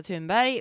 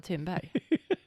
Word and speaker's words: Thunberg: I mean Greta Thunberg. That's what I mean. If I meant Greta Thunberg, I would have fucking said that. But that's not how you say her name.